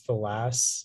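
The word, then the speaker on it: filasse: have all the information please yeah the only pronunciation is folas it's a noun and it comes from french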